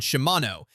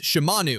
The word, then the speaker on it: Shimanu: Shimano warned Kurupika that there's a huge difference between Shimanu and Shimano as it's a language that subtly distinguishes between genders. Pronouncing the name with an O gives it a masculine sound, while the actual name is Shimanu with a U, which is feminine.